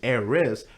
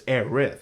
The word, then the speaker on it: Aerith: to be aerith but they pronounce it in Japanese Eris but it's aerith it's spelled aerith and